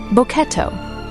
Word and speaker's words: Boketto: Boketto, pronounced "bo-ke-tto", written with characters suggesting an unfocused gaze.